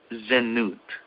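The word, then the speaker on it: זנות: at the vowel points to see if I'm pronouncing it correctly. It's zenut in Hebrew, and it specifically refers to sexual immorality.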